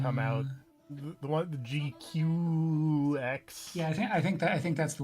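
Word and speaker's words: GQuuuuuuX: The one, the GQX? Yeah, I think that's the one that's happening in like a week or so. From what I understand, it is unfortunately supposed to be pronounced G-Cux.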